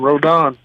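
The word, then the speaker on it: Rodón: Rodan, how do we get it perfect when you start for the Giants? You said it right the first time, Rodan, we got it, man.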